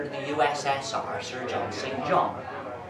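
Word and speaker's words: St John: the ussr sir john singh john although he pronounced it sinjin anyway when he first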